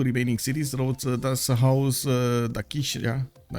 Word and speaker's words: Dakshina: Rhodes does house Dakishna. Anyway, Dakshina, actually, I think it's pronounced Dakshina.